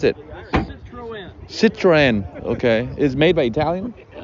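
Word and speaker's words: Citroën: How you pronounce it? Citroen.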